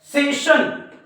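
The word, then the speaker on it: session: पुन्हा एखादी गोष्ट घेणे मग बघा या एस नंतर सुद्धा आय ओ एन आलेला आहे तर बघा आशिया रशिया पेन्शन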